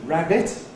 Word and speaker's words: rabbit: So, if we have the animal that's conservative pronunciation is rabbit, the glottal pronunciation is rabbit. Look at that rabbit over there. Rabbit. That's a glottal stop.